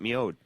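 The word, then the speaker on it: Mjød: let's uh cheer that and let's hear about miod which is spelled MJ o d and if you see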